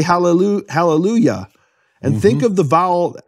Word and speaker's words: Hallelujah: different pronunciation and so the yah of halleluyah is different than the yah in Yahweh in fact in English